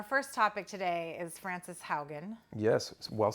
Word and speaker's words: Haugen: topic today is Francis Haugen yes well said did I say it right properly spoken yes I think you're the one that taught me it's like house Hogan yeah okay who was